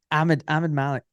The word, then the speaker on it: Ahmad Malik: Ahmed Malik, Ahmad Malik. And I'm like, no, dude, just Ahmed Malik. Okay, I've got it. And then he goes, Ahmed Malik.